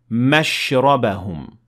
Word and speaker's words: مَشْرَبَهُمْ: And if you would want to start at this word, you would normally pronounce it as if there is no shadda, and you would say مَشْرَبَهُمْ.